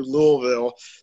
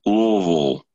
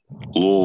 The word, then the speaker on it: Louisville: Though if you really wanted to, you can go to Louisville, that area, and come up from that direction. You pronounced it wrong. It's Louisville. Louisville.